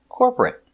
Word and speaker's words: corporate: 2 syllables, not 3. Not corporate, 2. Corporate, corporate. Stress on the first syllable.